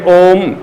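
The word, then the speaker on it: ओम्: लेकिन उच्चारण कैसे करें तो उच्चारण ऐसे करें ओ तीन म यानी ओ को तीन मात्रा तक खींचे फिर म पुनत जोड़ द यह उच्चारण का टेक्निक है और ये उसका कॉन्फिन है इस अक्षर को ऐसे पढ़ा जाए यह कहना इसका यानी ओ को तीन मात्रा तक ओम म मतलब कि उसका लाइन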